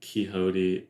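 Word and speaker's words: Quixote: you pronounce that word It's like kote because it's like Don kote like yeah and and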